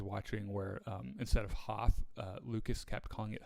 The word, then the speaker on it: Hoth: documentary i was watching where um instead of hoth uh lucas kept calling it hof and it's and he just still calls it